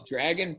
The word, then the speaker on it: Dragan: Oh, it's Dragan Petrovic. And Dragan is spelled D-R-A-G-A-N, and he is Serbian.